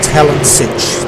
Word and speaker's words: Talansich: Okay, so it's Paul Talansich. That's how we pronounce it, okay?